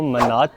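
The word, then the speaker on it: manat: अज़र भाईजान की जो ऑफिशियल करेंसी है वो मन्नात है। मन्नात या मनत ये दोनों लोग प्रोनाउंस करते हैं। लेकिन मनात यहां के लोकल्स कहते हैं। तो मनात कहेंगे हम।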